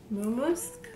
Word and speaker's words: Mumusk: So today we're doing a little collab with a company named Mumusk. Yeah, I said it right.